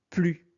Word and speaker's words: plus: approximative ou une limite, alors on prononce plus. Donc on ne prononce pas le s.